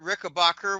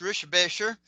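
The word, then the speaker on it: Richebächer: Um, I've actually met Kurt Rickabbacher, which is actually pronounced Rishbasher. Kurt Rickbacher, the German um a year before I started the newsletter.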